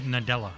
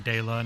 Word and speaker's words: Nadella: Nadella, Mr. Nadella, Mr. Nadella. Not Mr. Della, not Mr. Dela, not Mr. Nadula.